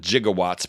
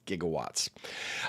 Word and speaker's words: gigawatts: He called it gigawatts, but he mispronounced it. Did you know that Doc Brown mispronounced it? It's gigawatts.